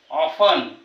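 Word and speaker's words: often: त्याचा उच्चार होत नाही बघा लिसनटी चा उच्चार होत नाही ऑफन लिसन म्हणजे या ठिकाणी चा उच्चार होत होत नाही टी सायलेंट आहे माहिती पाहू यु जर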